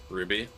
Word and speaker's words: RWBY: Ruby, I'm sorry I pronounced it by the letters that are there. It's RWBY. Also, I'm glad to see that my rage baiting is finally working.